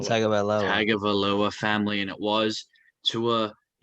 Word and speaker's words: Tagovailoa: Last podcast I said it was going to be a big weekend for the I gotta learn how to pronounce his last name. Tagovailoa family, and it was.